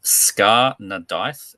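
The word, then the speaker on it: Scáth na Déithe: That's with an Okay, S-C-A-T with an umlauty slash and an H, and it's Irish. It's old, like Gaelic or something.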